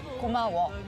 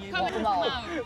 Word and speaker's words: 고마워: 고마워. 고마워.